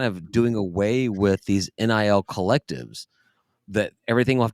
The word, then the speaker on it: NIL: the All Blue, All NIL. Ryan, Nil. That's how you pronounce that word.